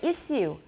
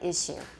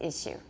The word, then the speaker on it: issue: It's issue, the same as in American.